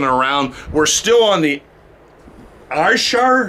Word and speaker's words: Ayrshire: We're still on the Ayrshire? How do you say that? Ayrshire coast of Scotland, which is on the west coast. I'm getting it, Gordon. Ayrshire. What's it? Ayrshire.